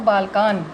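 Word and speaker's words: बालकान्: बालकम, बालकम, बालकौ, बालकान। बालकान। अब यहाँ पर भी हलंत है, इसका भी उच्चारण आधा आधा माना जाएगा। बालकान, बालकान नहीं होगा, बालकान। यहाँ पे बाल कम नहीं होगा, बालकम।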